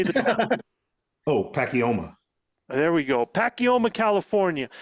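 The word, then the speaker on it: Pacoima: now what how do you say the oh pacoma there we go pacoma California y'all my apologies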